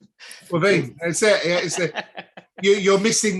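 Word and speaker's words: Caoimhín: the keeper, of course, there's not a single V in the sentence in his name. So clearly you pronounce it with a V. Quavine, that's it.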